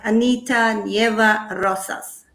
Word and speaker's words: Anita Nieva Rosas: welcome thank you very much and have i pronounced your name right anita nieva rosas yeah that's perfect i've tried that from pronunciation